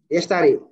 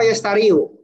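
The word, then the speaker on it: يشتري: Yashtari. Ini bacanya yashtari apa yashtariu? Yashtari. Yashtari.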